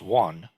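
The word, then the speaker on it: 願: Okay, and so this character, along with the one that I was just talking about a few slides back, Yuan, which in Korean, Sino-Korean, is pronounced won.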